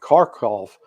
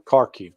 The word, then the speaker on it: Kharkiv: 2 weeks ago, the Ukrainians launched an offensive up around Kharkov, up in the north, or Kharkiv, depending upon how you want to pronounce it.